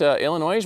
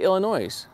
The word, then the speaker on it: Illinois: Illinois has no S's, it's silent. Really? Thank you. Wait a minute. So how do you say Illinois? Illinois?